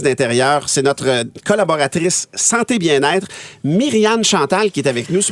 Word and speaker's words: Myrianne-Chantale: Oui, moi, mon nom, c'est bien Myriane Chantal et non Myriam Chantal. Il y en a plusieurs qui font cette erreur-là. C'est vraiment comme ça qu'on le prononce, comme tu l'as fait, Ouais.